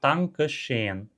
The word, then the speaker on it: Dankeschön: Então, a pronúncia mais neutra, digamos, Dankeschön. Dankeschön. Sons desvozeados. O T e o K são desvozeados.